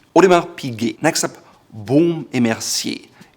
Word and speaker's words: Audemars Piguet: Audemars Piguet. It's a watch brand and it has a soft G. Audemars Piguet.